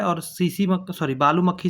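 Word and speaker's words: tsetse: T silent होता है। टीएसी टीएसी फ्लाई होता है। ट्रिप्टोसोमा गैंबुसिया। इसका याद रखने का आसान तरीका है कि सीसी में टी साइलेंट रहता है।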